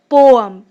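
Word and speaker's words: poem: जी हाँ, पोएम नहीं होता, इसकी प्रोनाउंसिएशन होती है पोअम। नेक्स्ट, यह म्यूजियम 5 साल से बंद है।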